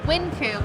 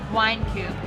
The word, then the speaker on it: Wynkoop: The name of the brewery is pronounced Wynkoop, but the street it's on is Wynkoop, but it's spelled the same. But they didn't want wine in the name, so they changed the pronunciation to Wynkoop.